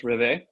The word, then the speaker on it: réveil: It's a French term, and it's réveil. Is how you say it in French, and it's to arise, to awake.